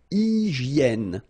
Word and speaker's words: hygiène: So remember we've got this Y here, vowel, and it's pronounced like E. E, okay? Hygiène. H doesn't exist, H doesn't exist in French, so hygiène.